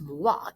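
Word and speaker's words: moi: pointing right at him mwah says arnie mwah pronounced mua is the french word for me he learned it from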